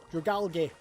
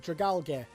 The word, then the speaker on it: Dragalge: Dragalge. Is that how you pronounce it? Dragalge. Because it's Dragon Algae. So I call it Dragalge.